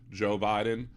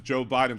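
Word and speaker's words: Jeaux Biden: Joe Biden but it's spelled like the New Orleans way instead of J OE it's j e a x Joe Biden and so I drive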